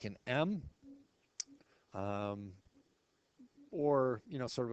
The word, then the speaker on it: mu: sort of like an M um or you know sort of a fancy lowercase U with a extra little hook there and again it's pronounced mu like muu like music mu and standard deviation of